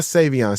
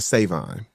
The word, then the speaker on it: Savon: And hold on, I think I not Savion, Savon. Yeah, Let me get his name right. Savon. Savon. No, that's how you say it.